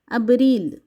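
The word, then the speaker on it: abril: Portuguese ভাষায় মার্সু মারসু এপ্রিল কে Portuguese ভাষায় বলা হয়ে থাকে আবরিল আব রিল মে কে বলা হয়ে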